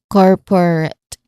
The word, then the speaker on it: corporate: So corporate root rat so it's not rat but it's also not root. Okay, it's in between because it's a shwa sound.